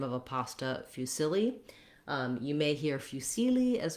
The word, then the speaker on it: fusilli: We have fusilli. Our main vowel stretched out is that middle vowel sound. So rather than few, fusilli, fusilli, middle syllable stress.